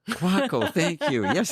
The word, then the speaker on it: Kwako: James quaco well pronounced quaco quaco thank you yes it is like taco other way and so